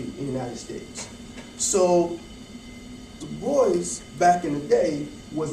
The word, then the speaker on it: Du Bois: And just for clarification, people say Du Bois. Du Bois actually said his name was Du Bois, pronounced like that.